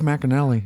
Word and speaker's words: McAnally: McAnally? Steve McAnally.